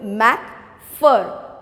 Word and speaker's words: McPherson: is connie okay now uh just see the pronunciation of this word mac fur ph is used for for my first sin